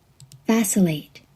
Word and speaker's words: vacillate: Vacillate.